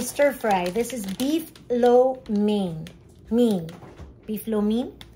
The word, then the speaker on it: lo mein: There's no A, it's M-E-I. It's the way that, yeah, it's the way it's spelled and the way that the people, then they themselves say it.